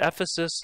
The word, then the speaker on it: Ephesus: did know the bible i had to say it's it's ephesus like in the book of ephesians not the book of